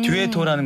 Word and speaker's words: Dueetto: 근데 이제 저희가 좀 크로스오버다 보니까 좀 이름을 조금 느낌 있게 가려고 해서 네, 듀엣토라는 거는 듀엣을 이태리 말로 발음한 거거든요. 아, 그렇군요. 네, 원래 이태리 말로는 듀엣토인데 그걸 영어식으로 네, 듀엣토라고 네, 쉽게 그렇군요.